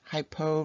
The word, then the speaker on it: hypo: have a hypotonic solution hypo rhymes with low this low solute concentration